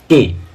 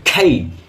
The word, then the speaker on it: K: Next কে, কে কে আমরা কি বলি? কে, কেবল, কে, কে, কে, কিন্তু কে নয়, হচ্ছে খেই, খেই, খেই।